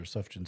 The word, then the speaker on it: Sufjan: one I like that I didn't know how that's how you pronounce stevens or Sufjan Stevens yeah it's a silent J okay yeah Brad you